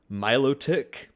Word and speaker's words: Milotic: Um, Milotic, which is the correct pronunciation, but I will still say Milotic, Melodic.